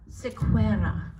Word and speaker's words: Sequeira: originally uh and you your last name to pronounce it properly is Sequeira okay which I thought sounds punished but Portuguese